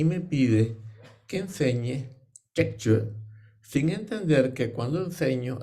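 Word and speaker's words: Trekchö: Pues en el centro del Tíbet dirían Tekchö y dirían Togel.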